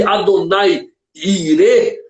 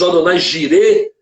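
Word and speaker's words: Adonai Jireh: Interessante é que a expressão aqui, Adonai Irê, como nós falamos, Adonai Jirê, ou Jeová Jirê, como alguns pronunciam, dá ideia ambígua, tanto daquele que provém, como aquele que se faz ver.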